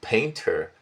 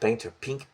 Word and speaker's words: panther: I remember about the Pink Panther. I think it's not Painter, Panther.